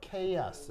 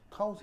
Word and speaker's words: chaos: chaos. 알겠죠? 이 발음 키읔 발음이고. 그래서 chaos. 알겠죠? 근데 이거를 그냥 일본식 혹은 콩글리시로 읽으면 카오스 이렇게 발음하는데 카오스 아니고 영어 발음으로는 chaos입니다.